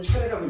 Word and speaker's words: 차제: 차제설법이라고 들어보셨을 수 있을 건데 차제라고 쓰지만 한글로는 차례라고 읽는 게 이제 맞습니다.